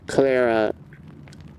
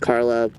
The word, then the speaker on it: Clara: switch to Carla well Clara I know it's not pronounced Carla but I'm so used